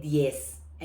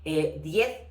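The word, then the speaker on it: diez: Okay, 10 will be in Spain, and the rest of the Spanish-speaking countries is 10.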